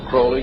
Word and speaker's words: Crowley: have his name pronounced crowley to rhyme with holy and uh the satanist